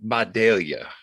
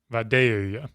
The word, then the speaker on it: Vidalia: of onions is it V videla I'll pronounce it like the locals pronounce so it's more velia velia almost like B Bia